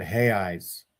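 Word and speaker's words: reais: Hey Eeyes. What are Eeyes? So that's how they pronounce re A. We would say real, which is like the the king's money and they pronounce it he eyes because like Joseph Smith's name is Joseph Schmich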